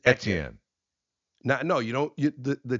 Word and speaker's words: Etienne: Okay, so he tried to make it easy for people who aren't familiar with French pronunciations, and he just said, "Look, just say Etienne, because I can't really teach it." But in French, it's Etienne. It's Etienne.